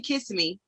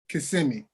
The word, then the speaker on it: Kissimmee: I stayed in Kissimmee.